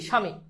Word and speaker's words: স্বামী: তাহলে এই যে দেখো, আদ্য, শুরুতে বফলার কোনো উচ্চারণ নাই, তাহলে এটার উচ্চারণ কি হবে? আমরা জানি দন্তস্বর সাথে তালব্য যুক্ত, বফলা যুক্ত হলে সেটা তালব্য হয়ে যায়, তাহলে কি হবে? স্বামী। আর দীর্ঘিকার রসিকার হয়ে যায়।